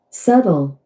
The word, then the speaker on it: subtle: How to pronounce that? Subtle.